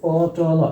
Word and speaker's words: পটল: আমরা যদি বলি আলাদা পট ল এইযে পটল এই প্রত্যেকটির সাথে কিন্তু একটি করে স্বরধ্বনি অ আছে।